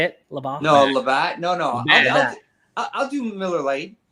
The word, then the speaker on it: Labatt: You want to do Labatt? Is that how you say it? Labatt? No, Labatt.